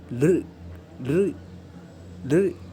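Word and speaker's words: ऌ: से उच्चारण होता है, किंतु थोड़ा हल्का सा ला करके आप बोलेंगे तो ये भी वहाँ पे आ जाएगा, जैसे ल ल ल, ऐसा इसका भी उच्चारण होता है।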